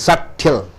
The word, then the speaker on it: subtle: சட்டில், சட்டில் என்றால் என்ன? Minute, ரொம்ப மெல்லிய. தின், ரொம்ப எல்லஸ், ரொம்ப மெல்லிய. மெல்லிய வித்தியாசம் எனக்கு அவனுக்கும், மெல்லிய வித்தியாசம் இவருக்கும் அவருக்கும். மெல்லிய, அந்த மெல்லியங்கிறது சட்டில். சட்டில்னு சொல்லக்கூடாது, அந்த பி உச்சரிப்பு இல்லை.